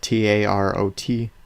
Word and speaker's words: tarot: But I can read tarot cards, and that's another thing. If you don't know what they are, it's basically a deck of cards. They're called tarot cards. They're spelled T-A-R-O-T.